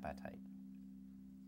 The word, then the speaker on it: apatite: what i thought okay you're right apatite not a hungry bone the bone that ate the dog okay appetite crystal okay and then